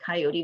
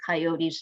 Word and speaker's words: Coyotl: And Coyote's name is pronounced according to the Aztecs in their language, Coyote, Coyote. And a little bit changed since that time, but that's Coyote's really pronunciation of their name.